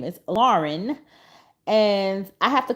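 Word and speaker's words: Laryn: my child's name even though her name is Lauren it is spelled different because I got the spelling from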